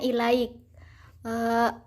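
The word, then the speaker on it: إليك: bait pertama itu terdapat kata ke ilaika itu dibacanya I like a huruf kannya hurufnya Itu dimatikan kemudian yang asa Wahid vokal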